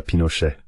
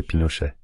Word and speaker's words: Pinochet: Vous voyez à la Pinochet. Comment dit-on ça au Brésil ? On dit Pinochet ou Pinochet ? Pinochet. Pinochet avec un A. Oui, on m'a déjà dit que c'était Pinochet. C'est Pinochet pas Pinochet avec un A.